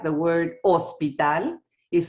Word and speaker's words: hospital: to show them ah remember the ancient Spanish is silent you don't say Hospital you say Hospital you don't pronunciate so